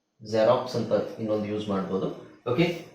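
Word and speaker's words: Xerox: ಗೊತ್ತಿರೋದು ಎಲ್ಲರಿಗೂ ಗೊತ್ತಿರುವ ಪದ ಜೆರಾಕ್ಸ್ ಜೆರಾಕ್ಸ್ ಅಲ್ವಾ ಜೆರಾಕ್ಸ್ ಅದನ್ನ ನಾವು zಡ ಉಚ್ಚಾರಣೆ ಉಚ್ಚಾರಣೆ zೆಡ್ ಅಂತ ಹೇಳಬೇಕು ಬರಿಬೇಕಾದ್ರೆ x ಅಂತನೆ ಬರೀಬೇಕು ಪದದ ಸ್ಟಾರ್ಟಿಂಗ್ ಅಲ್ಲಿ ಬಂದ್ರೆ ಅಂತ ಹೇಳ್ತಾ ಇದೀನಿ ಆದರೆ ತಲೆ ಕೆಡಿಸಕೊಬೇಡಿ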